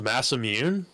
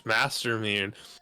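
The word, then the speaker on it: Masamune: this game I'm like there's not a single Japanese person on Earth who's saying the word Master mun they're not the ER is not being factored into the pronunciation for them but for some reason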